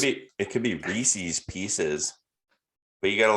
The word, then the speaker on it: Reese's Pieces: so it's kind of like it has it's pronounced reese's pieces it's not reese's pcs it's reese's well pcs is not a word